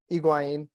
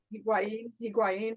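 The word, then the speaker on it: Higuaín: to Wayne am I saying it right the Higuain the soccer player for intermiami yep iguaine Higuain sorry yeah another story that you uh dove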